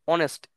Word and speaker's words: honest: আর an honest man, এসটা কিন্তু এখানে silent, অনেস্ট, ও এন এস টি, এই চারটা জিনিস, এই চারটা এই চারটা উম, এই চারটা লেটার উচ্চারণ হয়েছে, সো এক্ষেত্রে আমরা অ্যান অনেস্ট ম্যান হয়েছে, ওকে।